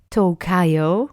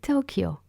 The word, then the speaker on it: Tokyo: Another thing is that the letter Y is pronounced Y, like in Tokyo or Kyoto. You don't say Tokayo or Kyoto, for example, right? You say Tokyo.